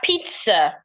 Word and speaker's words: pizza: Okay, so back to the next word, we have pizza. Pizza. I'd like pizza as in pets. Yes. The first zed sounds like a T. The second zed sounds like a S.